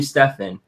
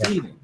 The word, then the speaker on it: Stephen: funny I call you Stefan even though it's Stefan but when people call me see me they call me Stefan because I have a pH in my name but it's Stephen it's pronounced stepen yeah but people see